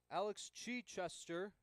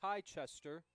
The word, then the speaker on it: Chichester: As that is number 21, Alex Chichester. Or excuse me, I believe that's pronounced Kai Chester.